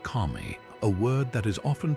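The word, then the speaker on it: 神: This is pair wit Chinese letter pronounced kami.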